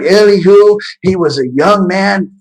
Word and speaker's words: Elihu: That's not Elias, sorry. Eli, I'm saying his name wrong. Let me get it real quick. Here it is. Elihu.